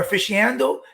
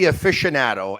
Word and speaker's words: aficionado: thank you very much i'm still trying to figure out how to pronounce aficionado or a fishy handle how do you pronounce that word it would be aficionado and as a custom